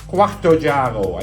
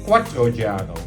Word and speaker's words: Quarto Oggiaro: First of all, its name is Quarto Oggiaro. I even practiced the pronunciation of that name before I started this trip today. And yet, in most, if not all cases, I hear myself say Quattro Oggiaro.